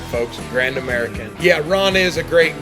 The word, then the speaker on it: Grand American: Grand American.